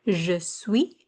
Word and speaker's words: je suis: The S at the end here, je suis, that S is silent.